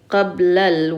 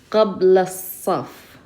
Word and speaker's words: قبل الصف: So instead of saying qablal, we're not going to pronounce the lam here because sad is a sun letter. Qabla saf. So we're taking the sound of qabla and connecting it to that sad.